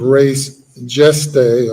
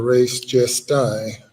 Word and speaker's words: res gestae: admissible under the theory of res gestae or res gestae, as some might pronounce it.